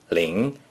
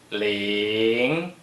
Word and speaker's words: 凌: 凌 is the second tone. Please pronounce it after me. 凌凌凌晨 means morning.